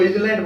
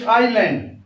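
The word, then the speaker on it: island: इजलैंड नहीं है, ये आइलैंड है, एस साइलेंट है।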